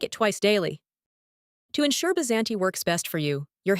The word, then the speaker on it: Bysanti: Today, we're going to talk about Bysanti, pronounced Bysanti, a medication recently approved by the FDA on February 20th, 2026.